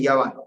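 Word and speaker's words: יוון: Grecia, en hebreo se dice Yaván, y se escribe con la Yod, con la Vav y con la Nun.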